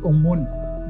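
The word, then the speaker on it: ОМОН: If you look at the text on the back of them, in Russian you pronounce it Omon.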